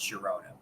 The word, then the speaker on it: Girona: there's some sort of rule in Spanish where the where the GI makes a uh sound but it doesn't always because uh I'm pretty sure in Spain the club Sharona is GI and that's pronounced Girona but uh and then